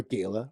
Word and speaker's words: Gala: our New Year's Eve Gala or Gayla whichever what you want to pronounce nobody pronounces it Gayla I heard today Ash some did it was in the